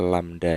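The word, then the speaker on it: lambda: lamda dibagi dengan t ini bacanya lamda ya atau V =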